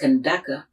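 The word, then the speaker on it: Kandake: concert queen or sisters in sudanese arabic it is pronounced kendaka or candace iconography from the religious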